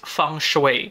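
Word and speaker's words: feng shui: Although when we pronounce That by the way in English it is fun shue fun shu expert quote unquote expert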